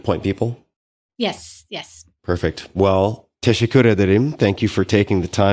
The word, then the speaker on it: teşekkür ederim: Well, teşekkür ederim. Thank you for taking the time today. Oh, wow. Excellent pronunciation. Thank you. Ben teşekkür ederim.